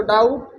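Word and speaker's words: doubt: देखो कॉम, बम, थम में संगठा, उसे टी से पहले आए बी साइलेंट रहता है, यानी टी से पहले कभी भी आए तो साइलेंट हो जाएगा। जैसे देखो डाउट, डेट, लेकिन देखो सेंस अलग मिलेगा।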